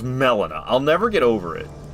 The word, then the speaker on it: Melina: I can't believe that's pronunciation. Why is it melon? Uh, why is it not Molina?